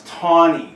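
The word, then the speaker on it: Taney: to play the video here and it's it's taon that's how it's pronounced and we mentioned this in weekly word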